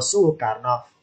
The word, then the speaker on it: Sukarno: Lidah kita mengucapkan Soe Harto susah, diganti u. Suharto, Soe Karno, Sukarno. Oh, berarti pertemuan intonasi O sama E jadilah U.